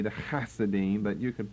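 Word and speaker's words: Hasidim: broad one now the hasodim you see them back on your outline the the the H there in Hebrew is really the the CH or the hard H the K the hasidine but you could pronounce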